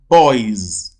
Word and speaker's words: boys: Why is the letter S there pronounced as Z? The reason is because originally boy ends with a voiced sound.